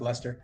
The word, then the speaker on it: Leicester: Yeah, it's written Leicester City, but it's pronounced Leicester.